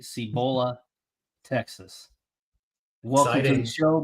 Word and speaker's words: Cibolo: 4-star commit from, hopefully I pronounced this right, Cibolo, Texas. Welcome to the show, my man. Here we go. How you doing? Sir. Doing amazing. Doing Did I amazing. pronounce that correctly? Cibolo. Cibolo.